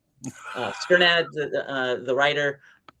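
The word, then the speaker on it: Strnad: Uh I don't how do you pronounce Jan's last name? Sternad. Sternad, uh, the writer, he ends up he ends up having sex with that frog, actually.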